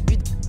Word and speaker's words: Budapest: Budapest? Ouais, Budapest. Non, ça se prononce Budapest.